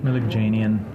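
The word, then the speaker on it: Melikdjanian: world as Captain disillusion uh how do you pronounce your last name mil Jan just call me Captain disillusion it's thanks for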